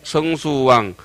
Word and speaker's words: 성수왕: 천자와 시연 청정광 천자와 보유 부동강 천자와 성수해 성수왕. 앞으로 이제 성숙도 성수로 읽겠습니다. 별자리 이름으로 할 때는 숙자나 숫자는 중국 발음은 똑같은 것인데 중국은 숙이란 발음이 없죠. 우리 한국에만 있는 것인데 잘숙, 별수 이렇게 합니다.